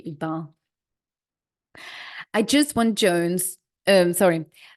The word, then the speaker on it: Iqbal: It's Iqbal, and it's written ICK hyphen BALL, like a ball. Iqbal. And it should be Iqbal.